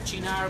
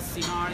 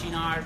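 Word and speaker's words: Cynar: The word is Chinar, by the way, it's not Sinar, it's Chinar, pronounced well.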